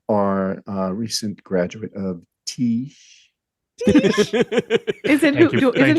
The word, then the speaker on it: Tisch: And they're Gen Z, and they are a recent graduate of Tisch. Is it Thank you, thank you for pronouncing it correctly.